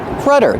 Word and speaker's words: rudder: this is called the rudder Rudder this is the rudder of the boat it's how you steer the boat pronunciation Rudder use the short uh sound like cup and up rudder this is the